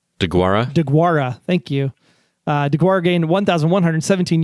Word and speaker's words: Deguara: DeGuara. Thank you. DeGuara gained 1,117 yards during his collegiate career at the University of Cincinnati. He also had 13 touchdowns combined in his junior and senior seasons. DeGuara was a first-team All-American Athletic Conference selection.